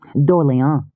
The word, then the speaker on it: D'Orléans: D'Orléans. She gave it a Gallic pronunciation. But it's spelled like the city.